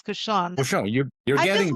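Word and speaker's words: cochon de lait: Couchon de lait is the actual festival, right? It's couchon.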